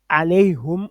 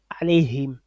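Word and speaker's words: عليهم: Ils vont garder le alayhum. Eux, ils vont prononcer alayhum au lieu de alayhim. Mais la règle veut qu'on change ce domir là en i. Arabe voudrait qu'on change ce domir en i.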